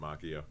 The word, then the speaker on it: Macchio: of Marvel Comics, Ralph Macchio, not the Karate Kid. That's going to be Sunday. I'm looking forward to both of those. You're like Jordan Schlansky, pronouncing it Macchio. It is pronounced Macchio.